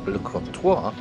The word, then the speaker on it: Le Crotoy: watered let's go for a look around the crto or his we were told it's pronounced lto is a small fishing Village on the bay